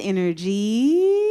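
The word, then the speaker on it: Innergy: Now, my name is Energy. And I spell that I-N-N-E-R-G-Y.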